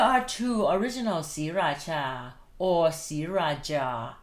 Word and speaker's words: Sriraja: The other one is j a, but you still read it Cha.